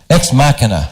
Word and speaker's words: Ex Machina: people have seen the movie x-man mechanic afiyah pronounced that ex mechanic is that the woman that kicks the humans out ex machina how many people say next machina all right